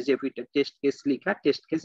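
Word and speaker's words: Zephyr: প্লাগইনটার নাম কি আপাতত জিফার হ্যাঁ জেফির হ্যাঁ জিফার জেফির হ্যাঁ আমি হ্যাঁ অনেকে অনেক রকম প্রোনাউন্সিয়েশন করতে দেখছি আমি জেফির বলি ওকে তা আপনি মনে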